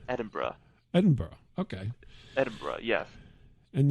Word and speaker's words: Edinburgh: so yeah Edinburgh yeah how would you say it am I saying it incorrectly no you're saying it right it's Edinburgh Edinburgh okay Edinburgh yes